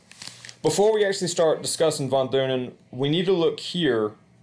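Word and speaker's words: von Thünen: I believe it's actually pronounced von Thunen, but since it's a TH and I'm American, we say von Thunen.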